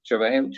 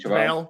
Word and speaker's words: JaVale: Do you pronounce his name? I would say it's JaVale. JaVale.